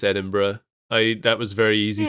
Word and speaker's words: Edinburgh: Edinburg. Edinburgh is right.